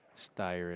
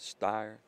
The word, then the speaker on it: Styer: You think when they named Tyler, they did that because it rhymes with Styer? Tyler Styer?